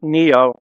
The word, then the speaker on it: Neo: talk a little about Neo and I assume I pronounced it like the singer is that right yeah